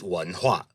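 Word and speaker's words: 文化: The Chinese word for civilization is wenhua, wenhua. And you spell it with the exact same characters. You write it the same way. But as you can see, very different pronunciation.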